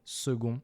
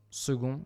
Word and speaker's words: second: Speaking of second, we'll switch the c in second for a g, which, as you can hear, is pronounced with a g and not a k. In fact, second used to be spelled